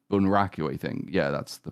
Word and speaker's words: bunraku: And he's challenging the puppeteers as they do, because the puppeting style is called bunraku, I think. Yeah, that's the pronunciation.